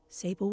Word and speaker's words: Sable: the next few days Sable will be here shortly to carry you back to your room oh it's pronounced as sable okay Elena are you angry